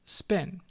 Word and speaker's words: SPN: segmented poly cephalus network an acronym SPN pronounced spin ok so what does